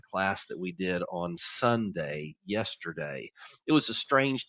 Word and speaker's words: Sundae: what Sunday is and Sunday is spelled like an ice cream Sunday s-u-n-d-a-e so we always